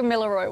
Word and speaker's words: Gamilaroi: Help me with the pronunciation. So, Gamilaroi woman.